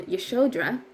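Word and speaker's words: Yasodhara: Yasodara. So, I wrote that down and I went to go look it up later and I found Yeshodra is what I learned it was pronounced, the Yeshodra Ashram.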